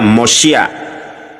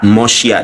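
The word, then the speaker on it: מושיע: Juru selamat itu di dalam bahasa Ibrani mem vav sin yud ain, dibacanya Mosya. Ya, di sini ada khirik, di sini ada fatah, Mosya dibacanya.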